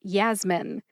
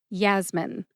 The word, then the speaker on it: Yasmin: Put both syllables together and you get Yasmin. Emphasize Yas. See if you can hear that emphasis when I say it again. Yasmin.